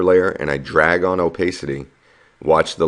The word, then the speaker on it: opacity: here is opacity and that's how you pronounce that it's called opacity and that's basically a